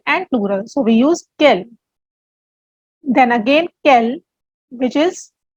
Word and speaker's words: quel: for example kell blur the pronunciation remains same for all the interrogative adjective either it is masculine feminine singular or plural but there is a